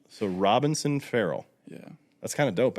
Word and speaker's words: Ferrell: anyway how do you say your last name frell frell frell frell Will frell Will Robbie will is your name William no oh Robinson Robinson yeah two last names so Robinson frell yeah that's kind of dope actually yeah people